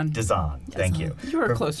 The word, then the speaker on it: Desan: Desan.